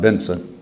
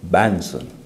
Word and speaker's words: Banson: He may have had Brother Benson, or not Benson, Banson. You had to know how to pronounce his name or he would get you.